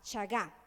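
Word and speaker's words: shagá: que esto es importante saga del hebreo con sh s h a g a saga acento en la última a saga es el pecado lleva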